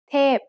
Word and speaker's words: เทพ: เทพ is a falling tone. Now let's write it. สระเอ ทอทหาร พอพาน เทพ Remember that most vowels come in long and short pairs.